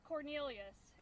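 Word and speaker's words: Quornelius: The first name is Cornelius. It's spelled Q-U-O-R-N-E-L-I-U-S.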